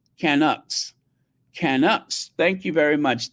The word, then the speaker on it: Canucks: as it were uh Lura Williams it is pronounced canuk Canucks canuk thank you very much the Canucks shanuk